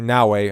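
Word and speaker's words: Naoe: or Yasuke and probably Naoi Nawi, I think it's proper way to say her name, but just go in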